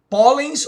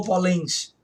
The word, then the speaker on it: pólens: Veja que você diz, ó, pólens ou polens? Pólens, aqui. Você diz parabéns, parabéns ou parabéns?